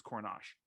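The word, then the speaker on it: Korenar: barracuda yosef excuse me i think it's joseph cornash it's spelled coronar but it's coronach so other than that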